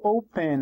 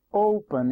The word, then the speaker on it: open: Open, eu não falo open, eu falo open, então essa aqui é a sílaba mais forte.